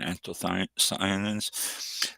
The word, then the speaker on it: anthocyanins: Next one we have for you, anthocyanins, and it's a little thing here how to pronounce this. That's exactly how I pronounce it, anthocyanins.